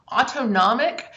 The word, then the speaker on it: autonomic: in the slide so autonomic sounds like the word automatic and that's how i remember it autonomic that part of